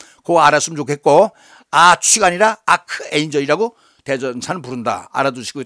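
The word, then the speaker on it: archangel: 아치라고 발음하지 않고 K로 발음을 해요. 아크에인저이라고 그래요.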